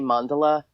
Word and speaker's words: mandala: just for for reference some people say Mandela I never knew it pronounced any other way than mandala and so there could